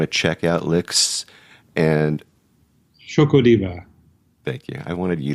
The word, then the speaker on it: Xocodiva: you to say it the ex is like a sh that's right it's spelled funny you guys it's like you know it's like the Aztecs do it yeah and you